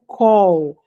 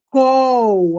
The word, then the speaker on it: call: É col a pronúncia call. Call de fazer uma ligação, col de chamar alguém. Ô fulano, vem cá. Call. Call de chamar o call de fazer chamada. Col. Ok. Não é cal.